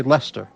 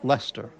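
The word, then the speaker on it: Leicester: What's the correct correct pronunciation? I would say Lester.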